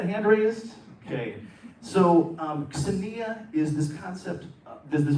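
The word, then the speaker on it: xenia: is this concept that is very ancient called Sania it's spelled x-e-n-i-a anyone familiar with this concept or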